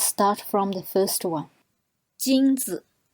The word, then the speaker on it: 金子: 金子, 金子 means gold. So the second syllable 子 is very short and light. So your stress is on 金子.